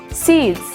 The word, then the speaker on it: seeds: Maka S-nya harus dibaca Z. Menjadi seeds.